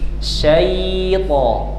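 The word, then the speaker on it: الشَّيْطَان: Bukan siai bukan bukan melebar syai ya tetapi lidahnya tengah diangkat syai seperti mengucap ya sukun syait syait jadi tidak syai melebar atau senyum ya cukup membuka rahang syait syait auzu auzubillahiminasyaitanirrajim tayib.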